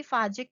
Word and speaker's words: phage: अब यहाँ पे ये दो तरह की फाजिक में रिप्रोडक्शन हो रही है. अब यहाँ पे लिटिक में क्या होता है, ये फाज या फेज, ये कहीं ये प्रोनाउंसिएशन फाज भी हो सकता है और फेज भी हो सकता है.